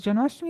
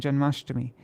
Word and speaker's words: Janmashtami: Does Janmashtami have a long I at the end? Ashtami, yeah, it does.